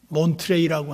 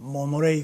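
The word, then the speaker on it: Monterey: 제가 미국에 가가지고 몬트레이라고 하는 지역에 갔어요. 미국 발음으로는 모노레이 그러거든요. 모노레이. 몬트레이하고 모노레이는 전혀 다르잖아요.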